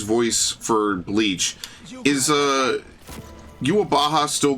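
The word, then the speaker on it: Uroboros: That's they pronounce it yuabaha.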